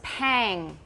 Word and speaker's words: pang: So, this one was pang. Rhymes with bang.